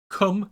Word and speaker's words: Kum: set number 16 k-u-m come hack hair care doesn't matter if you spell it with a k or c it comes out sounding the same when you say it out loud or put it on